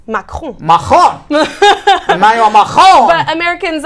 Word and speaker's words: Macron: How do you pronounce his name? Well, really, it's Macron. Macron. Emmanuel Macron. But Americans have accepted Macron.